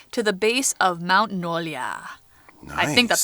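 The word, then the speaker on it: Nuolja: J's in Sweden are Y sounds, so you know, Nolia. Nolia.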